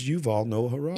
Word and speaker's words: Yuval Noah Harari: It's Yuval Noah Harari. Yuval Noah Harari. I said it right.